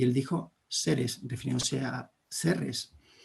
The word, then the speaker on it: Serres: that's the Greek pronunciation, Ceres and Drama. Bien, si esta es como han podido escuchar, pues Ceres en griego se pronuncia Ceres, como se dice en nuestra ciudad en francés.